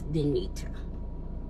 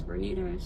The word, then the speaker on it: Bita: she's called she call she pronounces my name Bita with the R in it, but it's Bita. There's no R in my name. And so um she says Bernita she says um I